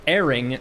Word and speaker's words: erring: Archangel, pray, does erring rhyme with herring or with stirring? It rhymes with herring.